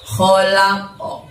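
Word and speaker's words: خلق: Nah, pada saat kho tadi, kho kalian bacanya keluarkan hurufnya dari tenggorokan ya teman-teman, tenggorokan bagian atas. Jadi seolah-olah bunyi suara ngorok ya, kho. Nah, di ujung tenggorokan sini di atas.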